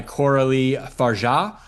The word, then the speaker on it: Coralie Fargeat: Let's let's move on to our our next film, which is Revenge from 2017, directed by Corali Farah is how you pronounce it.